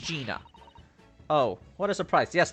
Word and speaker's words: Gina: the answer isn't it it's Jenny isn't that exciting Jenny so it is pronounced Gina oh what a surprise